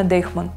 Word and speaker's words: Deichmann: Многие россияне произносят это как Deutschmann, но правильно Deichmann.